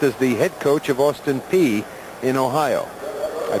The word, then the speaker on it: Austin Peay: including a stint as the head coach of Austin Peay in Ohio. I pronounced that correctly, didn't I?